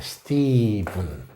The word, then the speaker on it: Stephen: 스티븐 영어 기분 나쁩니다. PH가 이 V로 발음되는 아주 특별한 경우죠.